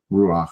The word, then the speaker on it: Ruach: Like Rush was saying the whole time, he was mispronouncing a Hebrew word because it has the sound at the end of it.